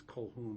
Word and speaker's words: Colquhoun: I'm going to pronounce her last name is Colhoun, but it's spelled differently. Colquhoun. It's the Scottish way, I guess, to say it, to spell it.